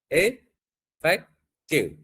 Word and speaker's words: effective: How do we pronounce this one? Effective or effective? So how many syllables are there? Effective. So is the first one effective.